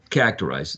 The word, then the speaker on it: characterize: other ones okay so characterize that's going to be uh the pronunciation for this one okay first syllable the most salient one or prominent one hector is that all